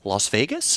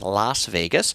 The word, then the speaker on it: Las Vegas: It is Las Vegas, Las L-A-S, though lazy people like me often pronounce it Las Vegas. And of course, people that actually speak Spanish say it's not Las Vegas, it's Las Vegas.